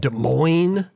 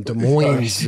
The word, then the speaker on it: Des Moines: each other and and des moines yeah it's been taking me a while not to pronounce the s you know i don't